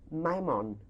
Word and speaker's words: Maimon: Maimon. How do you spell that?